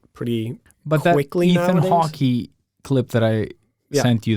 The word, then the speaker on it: Hawke: Hawke. And yeah. Ethan Hawke. Isn't Hawke? Yeah. Ethan Hawke. Okay, yeah, that's true. But, Yeah. the E is silent, probably.